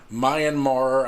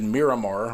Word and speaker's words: Myanmar: what happened in Myanmar they may not may not know how to pronounce Myanmar but Myanmar I think one of the girls in there said Miramar which is not Myanmar but whether they can